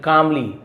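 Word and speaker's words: calmly: the king कामली stood up राजा शांति से L silent कालमली नहीं बोलेंगे कामली स्टूड अप स्टैंड अप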